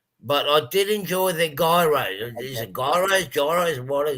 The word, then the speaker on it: gyros: But I did enjoy the gyros. Is it gyros, what are euros? Or officially, it's a gyros. Gyros. That's the official Greek pronunciation.